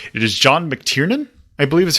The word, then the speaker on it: McTiernan: is John I would say it is John McTiernan I believe is how you pronounce that other movies that he is directed